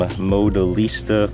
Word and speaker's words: Modelista: So these are some Modelista, that's how you pronounce it, rear spats, JDM part.